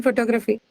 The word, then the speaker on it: photography: No, not the first syllable. The second syllable.